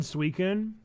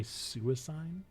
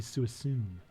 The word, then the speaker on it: Suicune: I always said Suicune, but in some of my Pokemon adventuring days, I've heard people say Suicine, and that doesn't even make sense because if anything, it'd be Suicune.